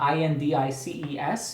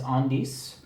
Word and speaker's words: Indices: I looked it up online and it's about IND icees and I figured out the French pronunciation is on DS for sure okay but in English it's indicee